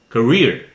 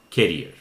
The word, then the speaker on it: career: point how what does listen carefully career could really good career not carrier career about this content continent